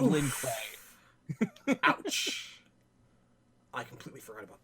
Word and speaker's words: Lin Kuei: The one most famous thing about Sub-Zero in The Journey Begins is that they keep pronouncing it Lin Q instead of Lin Kuei.